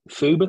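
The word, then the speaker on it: Phoebe: make is to a young lady um called ferb tickle p h o e b e phobe because that's how they pronounce it and tickle t oh she's in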